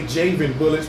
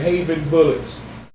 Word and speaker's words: Javen Bullets: A lot of people say Javen Bullets, but I think you pronounce it Javen Bullets. And am I correct, brother?